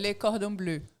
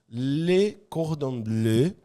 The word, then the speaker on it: Le Cordon Bleu: Fala aí a pronúncia certa. Le Cordon Bleu. Le Cordon Bleu.